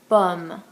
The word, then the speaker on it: pomme: It's important to note that when E is the last letter of a word and it has no accent aigu, we don't pronounce it. We don't pronounce the E.